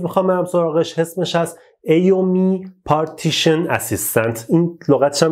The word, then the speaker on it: AOMEI: نرم افزاری که من امروز میخوام برم سراغش اسمش هست AOMI Partition Assistant. این لغتش هم میذاره سخت تلفظش، من رفتم چک کردم که این بار درست بگم. AOMI, AOMEI Partition Assistant.